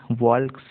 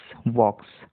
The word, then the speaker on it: walks: देखिए के साइलेंट है यहाँ पर, के यहाँ पर साइलेंट है. कई लोग वॉल्क्स ऐसा पढ़ते हैं जो कि गलत है. इसका सही प्रोनाउंसिएशन है WALKS, वॉक्स, वॉक्स.